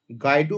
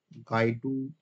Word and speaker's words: Guido: গাইডু ভন রাসম বলে একজন scientist ধরো, যে কিনা পাইথনটাকে ডেভেলপ করেছিল। কি নাম? গাইডু, GUIDO।